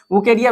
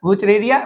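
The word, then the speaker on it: Wuchereria: एस्के हेल्मिन्थेस में आपको general features and life history of वुकेरिया वेनक्रॉफ्टाई, किसका? वुचरेरिया। बहुत सारे लोग वुकेरिया वेनक्रॉफ्टाई, वुचरेरिया वेनक्रॉफ्टाई बोलते हैं, आप जो भी प्रोनाउंस करते हैं वो आपके ऊपर डिपेंड करता है।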